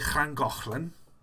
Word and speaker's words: Llangollen: So if you're pronouncing something like Llangollen, you know, you can pronounce it very easily.